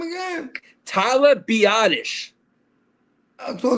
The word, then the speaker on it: Biadasz: Tyler Biadasz. So it's not actually badass.